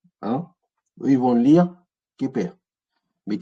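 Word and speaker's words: Khéper: Eux, ils vont lire Képer. Mais Képri, c'est pareil, c'est qu'on rajoute des voyelles pour pouvoir le vocaliser. Et effectivement, on a vu Képri. Quand on a vu Képri, Ra, Amon, ce Képer là, le scarabée, là, Képri.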